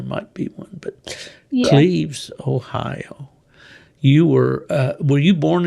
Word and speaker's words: Cleves: Cleves, Ohio. Cleves. And that's spelled with an I, though, right? No, it's Cleve. Oh, yes.